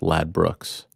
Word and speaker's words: Ladbrokes: Angela's telling me it's pronounced Lad Brooks.